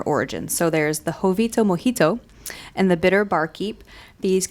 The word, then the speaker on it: mojito: So there's the Jovito Mojito and the Bitter Barkeep. These You didn't cocktails... pronounce that right. It's Yeah, I did. mojito. Oh. Well, if you want it to rhyme with Jovito, it's Mojito.